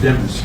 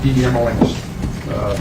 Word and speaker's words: Demons: It's pronounced Demons, D-E-M-O-N-S. Lemons with a D is the way it was explained to me.